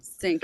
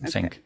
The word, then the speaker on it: Psinq: Psinq, is that how you pronounce it? Yep, Okay, Psinq. got It's it. like getting in sync with the world.